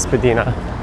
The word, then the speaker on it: Spadina: Well, south of here it's Spedina Avenue, but depending on who you ask, some might say it's Spedina to the north. I read the original pronunciation was Spadina for both stretches and it just kind of evolved into Spadina over time.